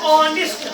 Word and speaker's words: honest: आई एम, HONEST, इसकी pronunciation है, मैंने पढ़ाया आपको। नेस्ट नहीं, आई एम ऑनेस्ट, आई भी आ गया, एंड भी फिर एडजेक्टिव।